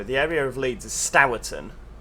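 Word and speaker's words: Stourton: area of leeds is stowerton everyone pronounces it sturton but i refuse to jump on that bandwagon it's s-t-o-u-r which is stower this is how you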